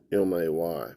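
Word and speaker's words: μή: It's pronounced M-A-Y.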